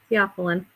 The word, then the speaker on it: theophylline: That's how you say it, by the way, theophylline.